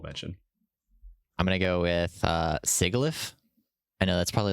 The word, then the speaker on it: Sigilyph: Are you just mispronouncing syphilis? No, it's Sigilyph, but yeah.